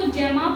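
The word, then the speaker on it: gemma: कुछ लोग इसको जैमा पढ़ते हैं, कुछ लोग गैमा पढ़ते हैं, तो प्रोनाउंसिएशन से फर्क नहीं पड़ता।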